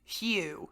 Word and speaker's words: HU: Simply sit or lie in a quiet place and sing "You," pronounced like "Hugh."